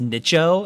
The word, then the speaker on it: Nicho: Is it Nico or Nicho? Nicho. It's pronounced Nicho, actually.